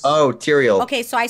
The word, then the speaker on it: Tyrael: know will pay you're on the charger Oh Tyrion's Oh Tyrael okay so I say it wrong that's why